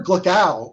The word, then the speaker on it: Gluckow: and my special guest jennifer glacao it rhymes with kapow that's how i'm going